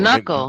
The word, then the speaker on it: knuckle: But Or knuckle, maybe 2nd right? grade. Maybe Knuckle 2nd is grade. KN. What's how you spell knuckle? KN. Yeah. New, The K is silent.